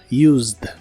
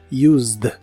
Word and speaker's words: used: el pasado es Used no se pronuncia la e de esta palabra solo la d del final Used Used y la puedes usar